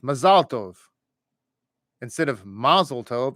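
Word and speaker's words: מזל טוב: you're speaking Hebrew that you almost always put the accent at the end of the word as an another example is the word mlov so a lot of times English speakers will say mazeltov when you're in Israel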